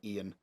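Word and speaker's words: Eoin: I'm gonna call him Ian uh because I don't know how to pronounce his name um uh you it's it's like e i o n uh so it's Ian um so you you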